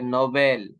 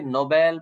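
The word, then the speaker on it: Nobel: Of person, ठीक है, नोबेल। तो ये हम इसको पढ़ेंगे नोबेल प्राइज, ना के नोबल प्राइज। नोबल प्राइज नहीं होता है, नोबेल प्राइज होता है, इसको हम ऐसे पढ़ेंगे।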